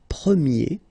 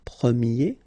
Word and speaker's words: premier: change quite much because if you think about the masculine form you pronounce it prier okay prier and then for the feminine form you will get Premier okay so it's open this a sound Premier prier prier and